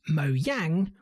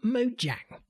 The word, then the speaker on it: Mojang: pronounced mo yang or mojang four in fairness this word the name of the company that makes minecraft originated in sweden in swedish this word is apparently pronounced mo yang with a y there are many soundbites